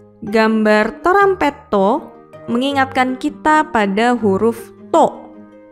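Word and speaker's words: トランペット: Berikutnya ada gambar trompet atau dalam bahasa Jepang adalah torampetto. Gambar torampetto mengingatkan kita pada huruf to.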